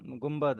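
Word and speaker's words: گنبد: ग हाँ न ब और दाल, गुम्बद। गुम्बद गर म नहीं है, गुम्बद है। मतलब वो आ, न की साउंड आ रही है, न के बाद ब की साउंड है, एम नहीं है।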